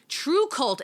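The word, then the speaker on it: TRVE KVLT: both on Omnibus um true cult it's spelled funny it's spelled t r v e k v LT but that's on ominous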